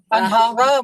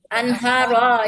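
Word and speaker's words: أنهارا: Anhara Bu, bukan anhar. Apa Bu? Apa Pak? Anhara bacanya. Anharo, iya Anharo.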